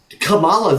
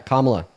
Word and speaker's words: Kamala: Yeah, but Camala though. But Kamala? Yeah, Kamala is how you pronounce her name.